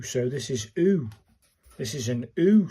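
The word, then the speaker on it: う: This is u as in pronounced like the oo in zoo. So this is oo.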